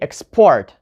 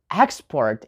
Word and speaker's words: export: two syllables we need to put the stress not on the first syllable but on the second one so for example we say export right you don't say expert we say export and here is really interesting thing guys if you're saying export that's a verb I have to export this somewhere else but if you're saying export if you put the stress on the first syllable then you have a noun export I have this